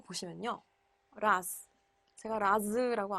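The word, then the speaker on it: raz: 라스. 제가 라즈라고 안 하고요. 라스. 지난 시간에 분명히 배운 대로 발음하시면 라스라고 안 하시고 라즈라고 하셨을 수도 있어요, 여러분들.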